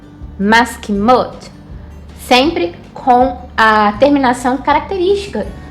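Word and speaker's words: מסכימות: Vai ficar da seguinte forma: maskimot, maskimot.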